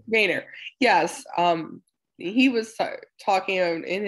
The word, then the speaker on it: Boehner: Yeah, it looks like Boner, but he pronounces it Boehner. Boehner, yes.